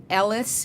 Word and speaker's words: ELLAS: foundation is all about embracing Latina leadership allowances Ellis is that how you pronounce it yes a yes A yes okay